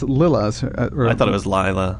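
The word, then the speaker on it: Lilla: I found a pronunciation of it online, and it was Leela. Oh, wow. Is how they pronounced it.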